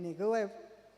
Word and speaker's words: Negev: Los amalecitas habitan en Negev, así se pronuncia.